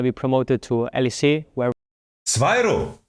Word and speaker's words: Swyro: promoted to LEC, where Swyro. I've never heard someone say his name out loud. I thought Zviru. Like Zivu. Zviru. Swyro.